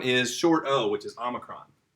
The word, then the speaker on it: Omicron: short Oh which is Omicron Omicron not Unicron Unicron is a villain in the transformer universe but on Omicron it's not Omicron is a Greek letter so Omicron is a short o sound okay stop okay